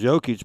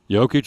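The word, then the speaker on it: Jokić: So Nikola Jokic, I've heard it pronounced so many different ways. Jokic is what I keep hearing him say on the national television, so I'm going with that.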